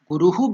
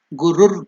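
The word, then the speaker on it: गुरुर्: Om Gurur Brahma, because it is Guruhu Brahma, that Visarga will be changed while pronouncing as Gurur Brahma. For easier pronunciation in Sanskrit, that Visarga will be changed into Gurur Brahma.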